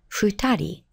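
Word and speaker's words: 二人: And in the case of 2, you'll recall that it's pronounced futari.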